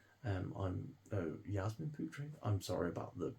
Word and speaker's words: Yasmin Putri: Taylor uh with art and illustration by um Jasmine putri um I'm oh Yasmin putri I'm sorry about the pronunciation there um and that is Dark Knights